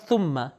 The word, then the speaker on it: ثم: صحیح ہم تلفظ کریں, ہمارے یہاں معمولاً اس کو تلفظ کیا جاتا ہے ثم, سین کا تلفظ, لیکن آپ جانتے ہیں کہ ث کا تلفظ عربک میں سین کے تلفظ سے اس میں فرق ہے. تو صحیح تلفظ اس کا ہوگا ثم.